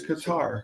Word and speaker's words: Qatar: Cutter. It's Qatar. Well, who calls it cutter? A lot of people pronounce it cutter.